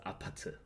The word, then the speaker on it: 아파트: And then a lot of people were saying, no, you should pronounce it 아파트, specifically, not Apartment.